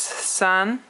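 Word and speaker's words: 三: r and it is second tone three is sun and it is another first tone four is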